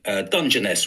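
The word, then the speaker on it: Dungeness: Dungeoness we call it soft G.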